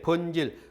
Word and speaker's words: 번질: 그다음에 늑대, 번질. 그 번질은 한자는 반작이라고 되어 있죠. 반작이라고 읽지 마세요. 이거는 이두문자입니다. 그래서 번질이라고 있습니다.